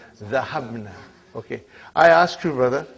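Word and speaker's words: ذهبنا: Now, how do you pronounce? Zahabna.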